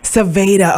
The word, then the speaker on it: Sevja: name for me sure it's pronounced Savannah okay thank you so